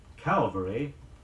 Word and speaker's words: Calvary: very calm about it many people confuse the Psalms in the words Calvary CA L ve ry the site of Christ's death and cavalry ca va l ry troops on horseback here are sentences illustrating